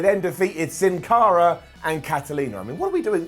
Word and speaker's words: Karolina: in the comments - yes it's pronounced Catalina but they spell it Karolina I don't know don't